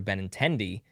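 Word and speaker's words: Benintendi: My last name is pronounced like Andrew Benendi, the baseball player.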